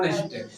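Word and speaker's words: honest: ईमानदार का होता है नेस्ट एच ओ एन ई एस टी नेस्ट य साइलेंट होता नेस्ट ना पढ़के इसको नेस्ट पढ़ते हैं ठीक है फर बेईमान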